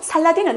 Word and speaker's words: 살라딘: 또 빗을 암의 손에 넘어가게 되서 결과적으로 그러면 살라딘은 어떤 유물이 인감 살펴보겠습니다 살라딘은 살랑 학비나 괴력을